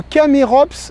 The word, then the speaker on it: Chamaerops: parler du palmiin alors son nom latin c'est le camerops ça s'écrit Chamaerops humilice humilice ça veut